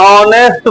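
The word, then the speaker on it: honest: ओ H silent हो जाएगा। ऑनेस्ट बॉय तो ये नाउन से हम लोगों का मतलब नहीं है।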